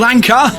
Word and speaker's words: Anka: this evening two from Paul Anka rhymes with Banker well indeed did